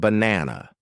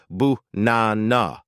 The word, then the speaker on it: banana: Look at the word banana. An amateur will try to pronounce every A perfectly. They will say ba-na-na, but a native speaker makes the first and last A lazy. They say bu-na-na. Only the middle part is strong.